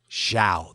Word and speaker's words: Zhao: The only thing is that, how do you say her last name again? Zhao. That's right.